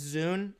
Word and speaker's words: ZUN: A small nitpick with Reimu is that the Toho creator's name is pronounced Zune, not Zun. Okay, my apologies on that. So it's Zune?